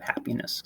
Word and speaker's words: happiness: hap part of happiness if we exaggerate it we get happiness if we move that around it's going to start to sound really weird we could say happiness or happiness let's sound a little bit more awkward than saying happiness so stress falls on that first part of the of the word there are technically like